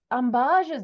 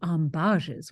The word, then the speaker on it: ambages: subscribe on YouTube and give me a like ambajes means an indirect circuitous way of talking I